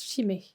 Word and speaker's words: shime: marque derrière on leur on se prononce malo et le symbole à l'intérieur se prononcent chimay c'est un symbole de